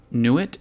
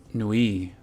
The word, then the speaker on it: Nuit: Nuit is pronounced Nui.